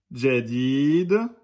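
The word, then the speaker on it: جديد: Exemple, Jadid aura une prononciation plus proche de Jadid que Jadid. Ok? Donc, n'oubliez pas le D devant.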